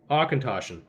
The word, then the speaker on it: Auchentoshan: Akatoshin. That sounds Hold on, German. is it- That sounds you like a pronounce German it name to me more than It's Scottish. not though. It's Scottish. Auchentoshan.